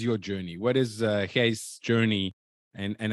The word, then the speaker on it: Gijs: and also for you to know it's not Gus it's Hayes but I guess I'm one of the rare that can pronounce it in the state so Gus thank